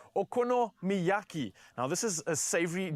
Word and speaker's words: okonomiyaki: Did I pronounce it correctly? Okonomiyaki.